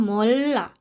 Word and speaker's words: 몰라: Nah, selanjutnya 몰라. Bacim real ketemu dengan huruf konsonan, jadi kita bacanya ke L. Jadinya 몰라.